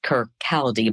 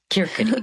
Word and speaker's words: Kirkcaldy: So for a single mother in Kirkcaldy, Scotland, typically looked like it's pronounced Kirkcaldy, but I've been corrected by many a Scot that Kirkcaldy is how we say that.